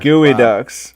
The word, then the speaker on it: geoduck: Chuck not been a geoducks this dream oh you say that 5 times fast I cannot a geoduck ok that's enough what was that it's pronounced gooey ducks we're gonna I'm gonna